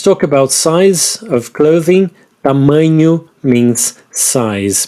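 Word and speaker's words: tamanho: about size of clothing TAMU means size be careful with the NH there TAMU we have small p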